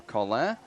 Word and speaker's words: Collin: Alongside Red Bulls defender Aurelian Collin, or Collin, as I will say it en français.